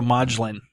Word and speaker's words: Modglin: yes I got like modular home mm-hm so maudlin yeah got it madlyn did I say at